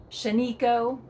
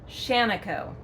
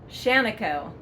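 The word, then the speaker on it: Shaniko: And it is not called Shanako. It is not called Shanako. It is pronounced Shanako. Yes, you heard it here, so say it proudly, say it loud, Shanako.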